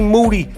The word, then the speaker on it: Moody: Toronto me and G Moody last name rhymes with duty Saturday August 4th in